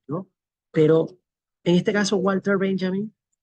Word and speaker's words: Walter Benjamin: La W en alemán se pronuncia como una V o una V de vaca, V la viidental. Eh, y por eso digo Walter Benjamin, ¿no?